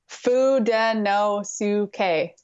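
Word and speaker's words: Fudenosuke: Fudino Suke.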